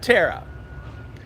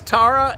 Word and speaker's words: Tara: And then we always try and catch a sunset for Mama Bear and Tara. And that rumor that it's Tara is not true.